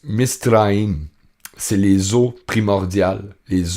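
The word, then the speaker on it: מצרים: Donc, Égypte en hébreu, hein? Ça se prononce Misraïm.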